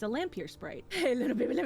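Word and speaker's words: Lampyr: These are called lampier sprites. It's spelled L A M P Y R space sprite. It's a lampier sprite.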